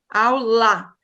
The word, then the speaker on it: aula: Mas quando eu digo aula, então, aula é a sílaba mais forte. Há estudiosos que dizem que nós devemos pronunciar a sílaba mais forte como se estivéssemos chamando por alguém. Por exemplo, aula. Então, a sílaba que estica é a mais forte.